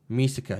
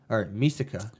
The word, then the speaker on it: Misaka: I was like, oh, so you do pronounce them slightly different. Mikasa, Ackerman, and it says M-I-K-A-S-A. And then we have Mikoto. Misaka.